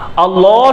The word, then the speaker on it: আল্লাহ: আল্লাহ শব্দ দুই রকমে পড়া যায়, এক নাম্বার ওর মোটা, দুই নাম্বার বারিক পাতলা। আমি আবার বলছি, এক নাম্বার ওর মানে মোটা, দুই নাম্বার বারিক, বারিক মানে পাতলা।